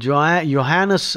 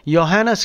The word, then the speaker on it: Johannes: And Johannes, the J is silent, you see, J is Yah.